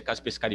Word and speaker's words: Kaspersky: Kaspersky, italiano, se eu não me engano, a pronúncia é Kaspersky mesmo, aquele carinha estranho que